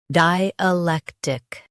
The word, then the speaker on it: dialectic: Di, lek, tick, dialectic. Emphasize lek and keep di and tick smooth.